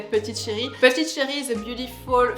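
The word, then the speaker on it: Petite Chérie: so Parisian so French we pronounce petite Cherry Petit Cherry so in English is little darling but I think in French it's so much better to say PTY Cherry PTY Cherry is a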